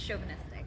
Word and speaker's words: chauvinistic: But yeah, it's chauvinistic.